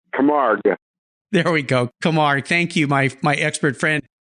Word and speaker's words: Camargue: I'm going to say this name wrong. Camargue. There we go. Camargue.